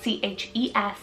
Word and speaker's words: Chesney: So we have Chesney, spelled C-H-E-S-N-E-Y, Chesney.